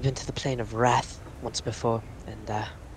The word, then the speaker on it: Rath: DM, that's spelled like the word wrath? Yes, just without the W.